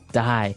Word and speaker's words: dye: Okay, dye. So it's pronounced exactly the same way as, to die, to not live anymore.